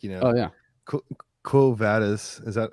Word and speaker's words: Quo Vadis: to say too like you know oh yeah cool vadas is that how you say it yeah cool